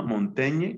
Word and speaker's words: Montaigne: son los ensayos y él se llama montaña que se escribe por sí montaigne montaigne entonces montaña escribe sobre eso